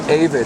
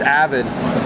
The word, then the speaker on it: Avid: I've always been saying it wrong, dude. I've always said Avid. It's Avid. Avid.